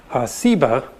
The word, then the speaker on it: Seba: think is related that has just a different S sound Seba and ugly explains that